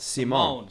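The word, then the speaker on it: Simón: And pardon me, it's not pronounced like Paul Simon. It's pronounced like Simone. Simone.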